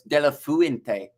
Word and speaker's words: De La Fuente: So it's De La Fuente rather than Flu.